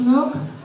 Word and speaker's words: conch: The conch, pronounced knock, is a type of large mollusk that has a fine white flesh.